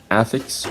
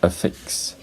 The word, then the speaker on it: affix: Okay, the next word, this can be either affix or affix.